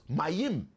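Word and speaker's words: מים: Memyudme spells mayim. That's how you say water in Hebrew.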